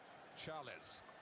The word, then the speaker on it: Charles: the substitute for Brazil it's spelled Charles it's pronounced chalice well sure Pierce would